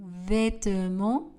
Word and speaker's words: vêtements: Le T et le S à la fin du mot vêtements ne sont pas prononcés.